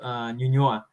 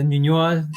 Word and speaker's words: Ñuñoa: middle class neighborhood called Ñuñoa. So we call them the That's Ñuñoa left, the Ñuñoainos. Ñuñoa left. That's hilarious. So it rhymes with ñoño, which is sort of like wimpy.